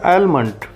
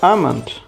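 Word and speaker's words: almond: बादाम को काफ़ी लोग गलत प्रोनाउंस करते हैं और कहते हैं एलमंड. इसमें एल साइलेंट होता है और इससे प्रोनाउंस किया जाएगा आमंड. आमंड. ये आलमंड नहीं होगा, आलमंड नहीं होगा या आलमंड नहीं होगा, ये होगा आमंड. एल साइलेंट होगा.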